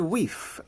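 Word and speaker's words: wyf: so first of all wife in mid Middle English is pronounced we there was a good weave there of bath and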